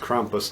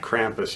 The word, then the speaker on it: Krampus: talk to you about Krampus and yes it's pronounced Krampus not Krampus you American uneducated dummies I saw the movie